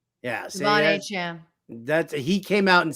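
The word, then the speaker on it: De'Von Achane: That's how he wants it pronounced. Devon Achane. Yeah. Devon Achane.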